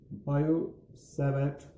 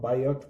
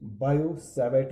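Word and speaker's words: Biot-Savart: देखिए स्पेलिंग में तो इसको अगर देखा जाए तो इसको हम बायोट पढ़ेंगे, BIOT, लेकिन यहाँ पर टी नहीं पढ़ा जाता, हम इसको शॉर्ट सिंपली बायो-सैवर्ट लॉ पढ़ते हैं।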